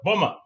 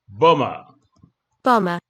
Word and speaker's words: bomber: one you can see you can't even see the B there the MB there so let's listen to it bomber bomber suicide bomber not suicide